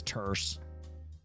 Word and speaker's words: terse: Someone in chat was saying I use the word terse wrong. Yeah, I do. I pronounce it wrong. It's terse.